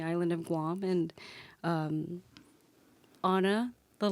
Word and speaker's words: Åna: up on the island of Guam and um Anna the letter ah is uh from the indigenous language of Guam called Chamorro and it's spelled ah n a or ah and that's pronounced Anna and then I'm tree and my name is